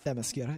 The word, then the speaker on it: Themyscira: There's a great scene on Themyscira, again, is that how you say it? Themyscira, yeah.